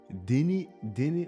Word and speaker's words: Denis: There's not even an S that he pronounces in there. I went Denis. Denis. My name is Denis Villeneuve. Denny.